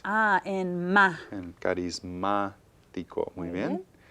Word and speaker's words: carismático: En carismático. Muy bien. Again, any word that has stress in the third to the last syllable must have an accent mark.